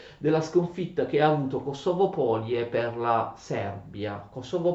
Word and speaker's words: Kosovo: Polie significa piana, pianura, quindi Kosovo Polie in Kosovo significa piana del Kosovo, ma anche piana dei merli, scusate, Kosovo è l'accento corretto, perché Kosovo significa merlo, d'accordo?